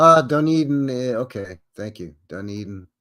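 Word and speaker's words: Dunedin: don okay thank you done Eden pronounced pronounced dun Eden thank you okay thank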